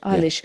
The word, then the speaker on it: Eilis: Fran: "And the young woman we're talking about, 'eye-lis' is that how you say it?" Colm: "'Eye-lish'." Fran: "... Eilis, Eilis.